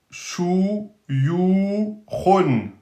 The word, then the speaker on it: shuyukhun: Donc, ici, on a le mot Shu, Yu, Khun. Shuyukhun. Donc, aminci. Donc, on dit bien O-U, Shu, Yu, Khun. Et là, on change. On met Kho, Khun, pas Khun, Khun.